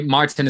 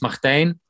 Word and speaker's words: Martijn: you say that um well actually Martin is more than fine it's uh originally it's Martin but yeah but for me I'm in every country it's a different thing in French it's Martin in Italy it's Mark Martino in Germany so for me Martin is like it's the easiest for all the countries you have just instantly